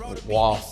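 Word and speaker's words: Roy: Yes, you pronounce that Waugh, boy, whatever.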